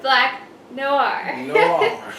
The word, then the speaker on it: Black Noir: and by the way black noir is pronounced black noah just say it fast and you're good and the girl's name